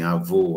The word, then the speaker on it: avô: diferentes uma das outras eu digo assim avô avó então esse ou fechar o avô o aberto da onde é que